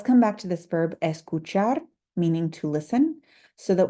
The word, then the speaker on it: escucha: To just say listen, we would simply say escucha. And I've underlined the cu, to indicate that we will emphasize that syllable when we say this word, escucha.